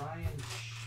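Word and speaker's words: Rian: I believe it's Ryan Johnson. It's spelled like rain.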